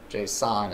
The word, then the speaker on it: JSON: we have packaged up Jason Jace JSON JSON is how it's normally pronounced I'm getting lazy here